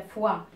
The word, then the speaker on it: fois: Il y a foie avec S. Foie avec S, c'est-à-dire plusieurs fois. Je suis allée à Marrakech plusieurs fois, d'accord? Là aussi, S, il ne se prononce pas.